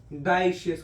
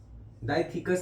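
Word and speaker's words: dioecious: मोनोइशियस होता है, डाइशियस होता है। डाइथिकस नहीं की बात कर रहा मैंने, डाइशियस की बात की।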